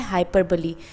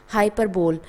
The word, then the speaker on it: hyperbole: इसमें बहुत ही important topic है जोकर है जो कि है हाइपरबली। हाइपरबली का कुछ लोग प्रोनाउंसिएशन करते हैं। हाइपरबोल जो कि रॉन्ग है। इसको हम बोलते हैं हाइपरबली और हिंदी में इसका नाम होता है अतिशयोक्ति।